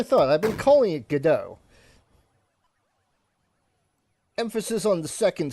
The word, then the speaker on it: Godot: So it would be pronounced guo or god do if you want to be very correct. Go do can right off. Okay. That's what I thought. I've been calling it gdau.